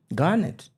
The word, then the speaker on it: Garnett: Garnet. Garnet. Yes. Garnet. Avoid the R for your own for your own good. For your own good. Listen, I'm Central. The R is just Just say Garnet.